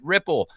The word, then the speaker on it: Wripple: We pronounce it Ripple.